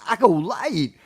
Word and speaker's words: acolyte: It's pronounced acolyte.